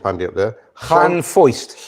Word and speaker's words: Llanfoist: Llanfoist. Llanvoist. Voiced. Because a single F is a V. No, it's not. It's an F.